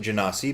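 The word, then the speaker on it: genasi: I'm gonna pronounce it Genesee because they're from jinn or genies Oh how do other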